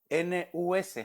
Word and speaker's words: nus: Hebreo 51:27 y se escribe N-U-S, fíjense, nus.